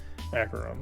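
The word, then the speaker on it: Acheron: pronounce that uh acaron acaron I know it's acaron because it's a that's a level in uh metal hell singer and they they they say how to pronounce it so it's acaron it's acaron it's a it's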